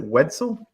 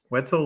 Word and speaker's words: Wetzel: that right is it Wetzel it's exactly pretzel you got it right Wetzel like pretzel yeah if you talked